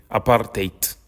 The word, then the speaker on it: apartheid: In order to understand South Africa as a society, you need to understand apartheid, or as the locals say, apartheid.